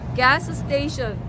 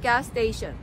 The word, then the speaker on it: gas station: 똑같은 발음이 두 개가 겹칠 때는 끝나는 발음하고 첫 소리하고 끝 소리가 뭐가 더 중요할까요? 당연히 첫 소리가 중요하죠. 그래서 gas station, 스 발음이 두 개이기 때문에 앞에 있는 스 발음은 약하게 들어갑니다. 그래서 언뜻 들으면 gas station, 스가 하나가 나오는 것처럼 들릴 거예요.